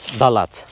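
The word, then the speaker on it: Đà Lạt: Abi Dalat değil mi telaffuzu buranın? Doğru söylüyorum. Evet. Evet. Dalat.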